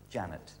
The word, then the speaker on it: Jeanette: Spelled Jeanette, but it is Janet.